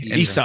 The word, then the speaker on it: Ysa: Isa. Oh, Isa. Oh, My name's Isa. spelled with a Y.